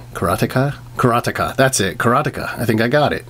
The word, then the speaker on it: Karateka: Atari 7800 charata k karateka karateka that's it karateka I think I got it alright so another